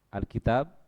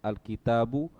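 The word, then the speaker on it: الكتابُ: Berarti bacanya harus al-kitabu, tidak boleh dibaca al-kitab atau al-kitabi. Ini andai kata tidak ada harokatnya ya.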